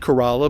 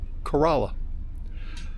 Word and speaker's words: Corolla: I'm in a town of corala today it's pronounced corala but it's spelled just like Corolla just like the Toyota but the uh locals call it corala first thing we're going to do is air